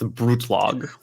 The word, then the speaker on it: Brutlag: It's German, so if you just think of attacking it strongly, it's Brutlag. Brutlag. Yeah. Okay, I don't know why I went slightly Russian then when I said it. Brutlag.